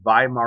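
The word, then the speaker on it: Weimar: they called it the viar Republic yes starts with a v in German ladies and gentlemen W's are pronounced as V so it's called viar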